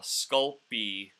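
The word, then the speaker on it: Sculpey: spell it but uh sculpy is is how it's pronounced just spell it phonetically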